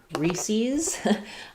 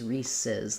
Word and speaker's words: Reese's: So I always learned it as Reese's. That's how we said it where I grew up. Some people say it as Reese's. So if it followed the rules, it would be Reese's, because we have Reese,